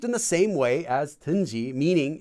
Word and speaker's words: 든지: So you might hear people pronouncing 든지 as 던지.